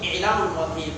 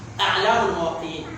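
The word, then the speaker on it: أعلام الموقعين: Some scholars call it I'lam al-Muwaqqi'in, but the correct pronunciation is A'lam al-Muwaqqi'in.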